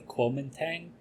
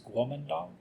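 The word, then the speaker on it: Kuomintang: often you'll see it in English as the Quang I I don't like to pronounce it like that that's not how you pronounce it in Chinese the closest we can really get with American accents is guong so I I always I always pronounce it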